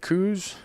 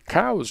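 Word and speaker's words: Coues: what I've found is if I call it coos the technical purists give me grief Randy you know it's really cows dear yes I know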